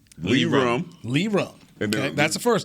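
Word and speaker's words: Lirim: That's how you pronounce it. Yes, it is. Lee. Okay, so Lee Rum. Lee Rum.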